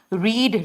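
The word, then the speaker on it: read: होगी she will have रीड रेड रेड spelling same होता है बोलते अलग से रीड रेड रेड समझ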